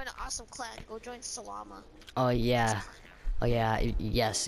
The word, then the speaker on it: Salama: It's basically salami, but you replace the I with an A.